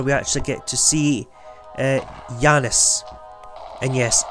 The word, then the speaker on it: Janus: actually get to see Janus. And yes, it's actually pronounced Janus, not Janus. But you can call it Janus if you want, but Janus is better because Janus is female pronunciation.